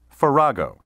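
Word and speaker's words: farrago: confused or jumbled mixture ferrago may also be pronounced ferrago synonyms of ferrago include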